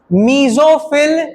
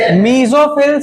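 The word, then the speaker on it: mesophyll: मीजोफिल cells. क्या बोलते हैं उसको? मीजोफिल cells. उसी में होता है। ठीक है? फोटोसिंथेसिस। मीजोफिल cells.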